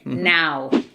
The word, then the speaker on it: now: Y now sería más o menos como N-A-U, now.